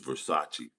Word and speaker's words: Versace: This is Versace, fam.